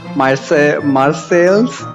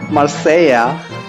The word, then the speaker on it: Marseille: I was surprised the other day that Marseilles is called Marseilla.